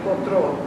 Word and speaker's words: potrò: Che riveder potrò. When the accent's on the final syllable in Italian.